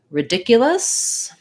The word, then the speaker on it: ridiculous: for in this word second syllable stress which means that first schwa first vowel is either going to be a schwa or an it's probably going to be in the dictionary as an if sound ridiculous you can think of it as a a schwa sound just because you're gonna put your stress on that second syllable um uh with the